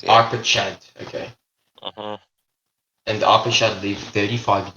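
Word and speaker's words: Arpachshad: We can hear pronunciation. Wait, is that a Russian person? Arpachad. 1 second. Arpachad. It's Arpachad. Yeah. Arpachad, okay.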